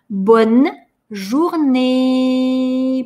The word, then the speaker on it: bonne journée: «Журней». Эту «э» мы тянем. Первое «э», точнее, последнее «э», не читается. Она конечная. А над другой «э» стоит надстрочный знак, и мы его читаем. Получается «bonne journée».